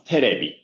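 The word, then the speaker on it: テレビ: But if we write it that way, it's pronounced as terebi, polysyllabic pronunciation.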